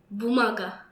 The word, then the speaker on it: бумага: Бумага. Bumaga.